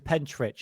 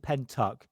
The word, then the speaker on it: Pentyrch: I thought it was a Pentyrch, it's not. It's called Pentyrch. It's just the Welsh have a different sort of dialect.